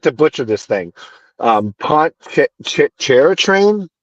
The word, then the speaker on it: Pontchartrain: Pontchartrain, Poncha, Pontchartrain.